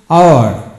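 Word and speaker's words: hour: এখন আসুন আওয়ার, এইচ ইউ ইউআর আওয়ার, এখানে এইচ এর উচ্চারণ হয় না, ও ইউআর আওয়ার হবে।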